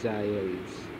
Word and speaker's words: Giles: And mind its pronunciation, it is Giles, St. Giles Churchyard.